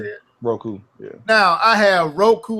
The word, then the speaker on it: Roku: R Roku is that how you say it Roku yeah now I have Roku on my TV